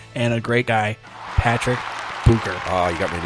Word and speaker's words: Bucher: It's always Butcher, Yeah, and Butcher. there's no T in there, but they do Butcher, and I'd say maybe 2% get it correct.